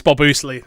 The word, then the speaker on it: Bobsley: Is it Bob Oosley? But was it? Yes, it is Bob Oosley. There we go. Oosley! That's how you pronounce it.